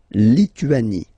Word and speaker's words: Lituanie: Remember in French, sorry, H doesn't exist, okay, so you don't pronounce it, and it's li, tu, a, ni, Lituanie.